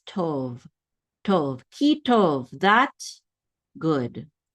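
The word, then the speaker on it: טוֹב: This is a tet with a cholam vav. This says to. And then a vet closes the syllable out. So this is tov.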